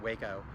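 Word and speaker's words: Hueco: Waco Tanks is a, and it's spelled H-U-E-C-O, but it's pronounced Waco.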